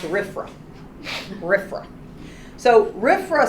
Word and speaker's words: RFRA: in the wonderful world of government whatever gets pronounced a riff from Griffin so rifra said that you can this is Congress saying